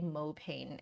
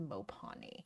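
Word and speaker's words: mopane: right I know that I used to say mopan and then you guys corrected me and said that it's actually pronounced mopon so if I am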